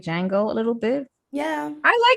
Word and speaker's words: Django: kind of like somebody said it was like Django a little bit. Yeah. I like the Django. I like I thought it was the really Django. good. The The Django. Django. What was it? Django or the Django?